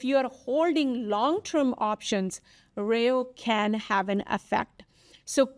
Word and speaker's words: rho: Right now the last one, it is called REO, which is for interest rates. And Rejo, I can't even pronounce the thing.